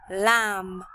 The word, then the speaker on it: lamb: Number 13, lamb. Silent B at the end.